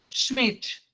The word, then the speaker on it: Schmidt: Ah, Como é que se pronuncia Schmidt? Schmidt, Schmidt. alemão. Alemão.